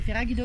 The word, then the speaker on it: Ferragudo: Nous sommes à Ferragudo. Tu t'es pas entraîné à le prononcer celui-là. Ferragudo. Non, je sais pas. Ouais, c'est Ferragudo quoi.